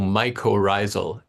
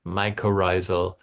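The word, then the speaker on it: mycorrhizal: What is how can you say it again or spell it? Oh, microisal. Um, it's if I I think the spelling is m y c o r r h i z a l microisal network and microisal means root fungus.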